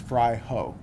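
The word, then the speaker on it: Fraijo: f r a i Jo o and it's pronounced fry ho and the first name again doer doer and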